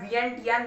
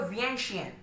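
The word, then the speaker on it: Vientiane: इसका प्रोनाउंसिएशन 2-3 रूप में होता है। वियेंटियान बहुत लोग बोलते हैं, बहुत लोग वियेंटैन, लेकिन जो करेक्ट है वो है वियेंशियन।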